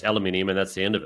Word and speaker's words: aluminium: So copper involved in everything, aluminium, alumina, or however you say it, the same thing. Aluminium, that's how you say it. How's it? There's no other way of saying it.